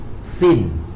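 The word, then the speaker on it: سين: Then we have sin. Sin, that means the same. You have to prolong at the ya. Sin. Then you end at the nun.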